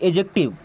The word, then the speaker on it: adjective: इसे एडजेक्टिव नहीं पढ़ना है। यहां पे फिर डिसाइलेंट होता है। ओके? एडजेक्टिव।